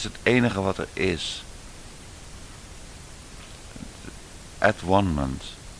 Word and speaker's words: atonement: At-one-ment heet dat op zijn Engels. Atonement zeggen ze dan. Atonement. Maar dat is net als abortus verkeerd uitgesproken. Het is abortus. Ontvruchting. En at-one-ment, atonement wordt het gezegd, at-one-ment.